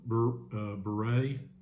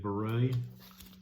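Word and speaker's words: Bourrée: But Beret, I believe it's how it's said, Beret.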